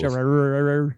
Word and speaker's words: Gerard: I have a hard time saying Gerard. Like Jared. It is 2 syllables. Gerard.